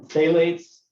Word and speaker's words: phthalates: lubricant sealants and then phthalates i think that's how you say you don't pronounce the ph in that maybe right uh they use